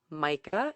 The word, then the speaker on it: Majka: on instagram under my name which is micah and it is spelled the last name is m-a-j-k-a